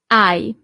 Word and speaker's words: hai: Tu, hai. So you don't really pronounce the H at the beginning.